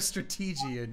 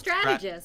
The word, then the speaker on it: strategist: I'm a strategian, you see. Well, he has... Is that not a way to pronounce it? No, it's strategist.